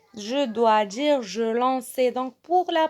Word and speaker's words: lançais: Et donc, le C devant A, ça se prononce K. Et donc, je vais dire je lanquais. Je dois dire je lançais.